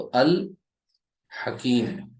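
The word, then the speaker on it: الحكيم: लफ्ज पर ठीक है हा से शुरू होने वाले लफ्ज पर मैंने अलिफ लाम दाखिल किया तो लाम प्रोनाउंस किया जा रहा है ठीक है अल हकीम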